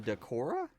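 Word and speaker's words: Dachora: emus are called um I think they're pronounced Dora d a c h o r a um and I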